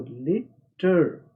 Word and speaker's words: litre: और दूसरी आवाज़ RE की आवाज़ र की आवाज़ है। ई की यहाँ पर कोई आवाज़ नहीं है। उर्दू का अर्थ देखिए र, आर यानी रे की आवाज़। तो लीटर, लीटर।